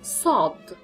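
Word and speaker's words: صاد: Now the next is sod, which is a very, very heavy S, which is sod, like this. The pronunciation is s.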